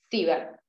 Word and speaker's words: sievert: Se pronuncia así, sievert.